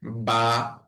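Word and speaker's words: ب: তারপরে হচ্ছে বা, বা, বা এর উচ্চারণ 2 ঠোঁট থেকে উচ্চারণ হবে।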